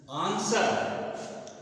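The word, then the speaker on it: answer: है जो बराबर बोलते हैं इसको बोलते हैं आंसर आंसर ये आंसर नहीं होता आंसर नहीं होता इसको बोलते हैं आंसर इसका उच्चारण होता है आंसर आंसर तो यहां पर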